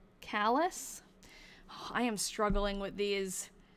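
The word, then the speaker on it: Calais: It's pronounced Callus.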